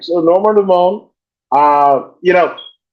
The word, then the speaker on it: Dumont: And Norma Dumont, and I'm saying it the French pronunciation. I know it's Portuguese and what have you. But Dumont, right?